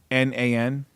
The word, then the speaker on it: Adnan: that how you say his name a d a-d-n-a-n adnan adnan adnan what's he saying since you